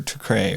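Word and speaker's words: Türkiye: It's not Turkey anymore. It's Tukri or Tukre or whatever. Yeah, I'm not sure how to... It's not pronounced Turkey anymore. Yeah. And it's actually offensive if you say Turkey, but the newscasters here still say Turkey, not Tukre.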